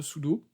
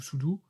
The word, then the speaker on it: sudo: Mais très bonne initiative de la part de Microsoft, c'est l'introduction de sudo, ou sudo, suivant comment vous prononcez, pour Windows.